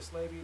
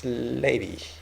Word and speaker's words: Slavey: from various native tribes like the cre the slavey the chipa or the yeah yeah slavy people